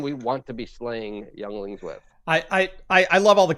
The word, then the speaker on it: Yuengling: want to be slaying younglings with. I love all the comments right now. It's pronounced Yuenglings.